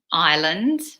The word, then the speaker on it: island: a river a desert island canyon lake mountains cliffs now be careful the pronunciation of this one guys I know it's English pronunciation is very difficult but the S is silent so we say I